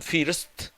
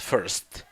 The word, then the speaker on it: first: Muchas personas la pronuncian first, pero en este caso es first. First más bien tirando como una E en vez de una I.